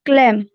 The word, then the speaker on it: calm: Keep once your mind calm.